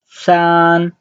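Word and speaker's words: 三: uh two and the third one is three sun sun sun the first one so three is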